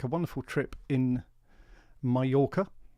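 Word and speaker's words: Mallorca: a wonderful trip in Mayorca. I think that's how they say it, isn't it? Mayora, the locals.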